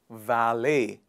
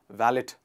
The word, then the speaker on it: valet: to park your car that service is called valet please a lot of people i've seen a lot of people pronouncing it as valid villette various sorts of pronunciation but it is val